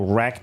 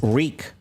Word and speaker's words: wreak: Um, instead of wrecked, it say Rick. Yeah, but it's not supposed to be wrecked. It's Reek. So, it's pronounced the same as Reek.